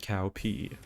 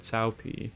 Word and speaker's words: Cao Pi: Cao Cao and Cao Pi. Cao Cao and Cao Pi are both mispronunciations of the names Cao Cao and Cao Pi, two of the most important characters in Dynasty Warriors.